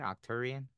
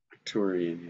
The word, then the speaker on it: Arcturian: That's how you say it, Octurian. Arcturian.